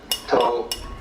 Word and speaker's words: Dao: So their principle of nature is called a Dao. T AO pronounced dao in the Mandarin dialect, Tao in the Shanghai dialect, toe in the Cantonese dialect. Take your choice. Dao means the course of nature.